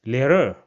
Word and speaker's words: Lehrer: Now when we pronounce this combination, then we leave the sound of the R. So for example, this word over here, which means teacher, will be pronounced as Lehrer. So you see, we don't put the emphasis on R at the end.